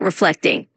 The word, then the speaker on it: reflecting: Just a tiny pronunciation tip, when you say reflecting, just emphasize that middle part a little bit, reflecting.